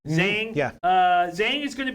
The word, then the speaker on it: Zhang: Am I pronouncing that right? Zhang.